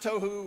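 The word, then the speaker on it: תֹהוּ: that right there but he says that it's pronounced toou right is chaos Wilderness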